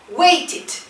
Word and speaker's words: waited: Waited, waited. Como si después de la T dijeras ID.